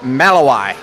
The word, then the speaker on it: Malawi: Malawi? Malawi, yep. And Or as you Americans say, Malawi. Malawi.